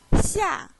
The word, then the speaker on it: 下: The pronunciation is 日. The third Chinese character we learned in lesson 4 is 下.